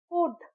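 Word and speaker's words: could: यहां L silent है। कुड सी ओ यू एल डी कुड हम फुलड नहीं कहते हम प्रोनाउंस करते हैं कुड तो यहां एल साइलेंट है।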